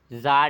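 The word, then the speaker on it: Tsar: क्या नाम था भैया जार निकोलस टी साइलेंट है जार निकोलस सेकंड जार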